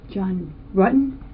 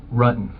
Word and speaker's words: Rutan: John Rutten? Rutan. The investigators already knew how to say John Rutten's name correctly. The mispronunciation was a simple strategy to see how the suspect would react.